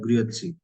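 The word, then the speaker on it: Grüezi: सो इसका basically sound होता है ग्रियोत्सी।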